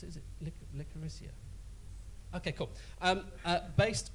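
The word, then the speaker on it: Licoricia: Now, Helen, is it how do you pronounce it? Is it Licorissia?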